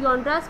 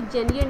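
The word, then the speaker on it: genres: याद रखिए आपने इसको योनड्राज प्रोनाउंस करना है, कभी भी आपने इसको जेनियर नहीं प्रोनाउंस करना है, इसकी प्रोनाउंसिएशन योनड्रा है, जेनियर नहीं है।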